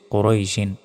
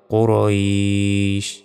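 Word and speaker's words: قُرَيْشٍ: রই সিন দুই সিন কুরাইশিন এখানে থামলে উচ্চারণটা হবে কুরাইশ আমরা অনেকে বলি লি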